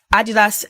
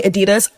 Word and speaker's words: Adidas: Blake Lively decided to wear Adidas x Balenciaga. I know Americans say Adidas. I'm British, so I'm just going to say Adidas. But yeah, Adidas x Balenciaga.